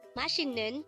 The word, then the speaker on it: 맛있는: delicious again means delicious how do you write mashinun in Hangul is composed of three syllables for the first syllable mat we need